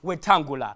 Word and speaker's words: Wetangula: Now, in this confusion that is going on, there is a man known as Moses Wetangula, aka the guy whose name rhymes with Lungula.